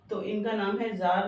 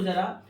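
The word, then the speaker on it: ज़ार: गया अब ये देखो जरा आपको याद रखना है एक नंबर के लिए की रश जर निकोलस के टाइम पर टी साइलेंट है ठीक है तो जर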